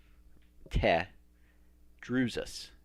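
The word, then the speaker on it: Tedrusus: I tell people it's not te, like Canadians say a. Like, what are you doing, eh? It's not, it doesn't rhyme with te. It doesn't rhyme with a. It rhymes with eh or meh.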